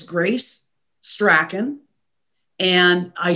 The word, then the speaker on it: Strachan: So it's Grace Strachan. And I say Strachan because nobody knows that it's pronounced Strawn, and you'll never spell it right.